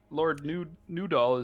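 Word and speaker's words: Nudal: got Lord Newdoll is just Newdoll. And I it's spelled it- N-U-D-A-L. I spelled it noodle. I didn't say Mine's noodle. noodle. I said new doll.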